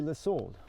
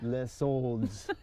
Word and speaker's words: soldes: And by the way, we know that we are pronouncing it wrong. We know. Sometimes it's on purpose. It should be Les Soldes, but we love Les Soldes.